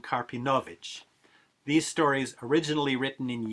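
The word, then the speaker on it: Karpinowicz: vilna stories by abraham carpinowicz or as i'm more likely to pronounce his name and as i think he would have pronounced it avram karpinovic these stories originally written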